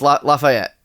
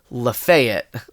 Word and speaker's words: Lafayette: But that's how it's pronounced, Lafayette. Yeah. Around these parts. But my coworker, who is from more southern parts, I guess has a similarly named area, but it's pronounced Lafayette.